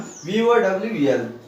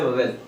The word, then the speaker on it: vowel: See here I have written vowel, vowel, va. So round, our tongue should be made a round, va.